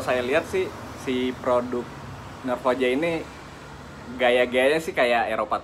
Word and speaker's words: Norrfoja: Cara bacanya Norfoja.